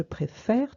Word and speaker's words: préfère: Mais quand j'ai un E muet, j'ouvre cette voyelle. Donc, au lieu d'être et, elle va devenir est. Je change le sens de l'accent. D'accord? Je passe d'un et, d'un accent aigu à un accent grave pour passer du et au est.